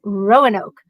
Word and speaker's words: Roanoke: when I came back Roanoke was Rono normally I'm trying to get rid of emphasises I see the emphasis is on the first syllable right I'm not even